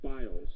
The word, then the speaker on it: bios: we'd say in English biles it's not pronounced that way in Greek but Greco Roman bios it's a genre of